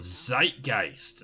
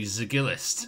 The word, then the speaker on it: Zeitgeist: Oh, Zeitgeist. That's how you say it. San Francisco. Okay, thank you, Max, for telling me how to say it, because I was not sure I was going to say Zigilist.